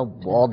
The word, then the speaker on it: ضاد: اس طریقے سے کرنا۔ اور جو صحیح لفظ ہے وہ ہے ضاد، یعنی اس کا تلفظ ذرا مشکل ہے، عجمی افراد یہ آرام سے اس کو نہیں نکال سکتے، لیکن بہرحال یہ ضا نہیں ہے، ضاد ہی ہے، اس کو ضاد ہی یہ پڑھا جائے گا، تو یہ اگر